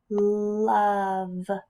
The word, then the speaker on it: love: Love. I hear a U at the beginning. Love. And I hear a V at the end, but I don't hear that E sound. It must be silent.